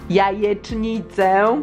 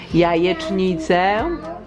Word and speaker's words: jajecznicę: Remember, J in Polish? Jajecznicę. Jajecznicę. Jajecznicę. I just said it right. Jajecznicę. Ja. Je. Czni. Cę. Jajecznicę.